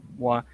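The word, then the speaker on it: moiré: And look, still the moire. You can pronounce it moire as well, I've heard. I'm just saying. Okay. Strictly speaking, watered silk is different from moire, but I will accept moire.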